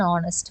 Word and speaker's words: honest: So even though it has the letter H, the pronunciation only has the vowel sound at the beginning.